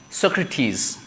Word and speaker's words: Socrates: Greek names from the Greek mythology they also pronounce the last e let's like Socrates right Sophocles Achilles Hercules right phibe so P